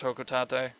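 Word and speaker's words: Hocotate: I heard somebody at Nintendo say it in a video, and they said it was Hokotate. So I was like, what, is that how you say it? And it is.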